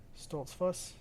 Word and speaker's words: Stoltzfus: I'm gonna need them to start giving us like pronunciations for all these names. Stoltzfuss.